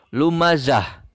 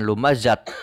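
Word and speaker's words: لمزة: dibacanya menjadi watab Kemudian pada kata lumazatin huruf terakhirnya adalah tak merebut Oh yang berharakat tanwin kasrah maka dibacanya lumazah tagnya mati nah sifat tak marbutoh ini ketika mati berbunyi H maka lumazah bukan lumazatin akan tetapi lumazah Kemudian pada katak selanjutnya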